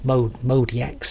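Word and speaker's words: MODX: My Yamaha Mod X, or Modi X, some people pronounce it, can't really do that effect, even though my old Ensoniq ESQ1 could do that.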